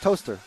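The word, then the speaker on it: Towcester: to to toter yeah toest sh toest toaster and b b but B Bicester or B to toester no it's just toaster okay cool isn't it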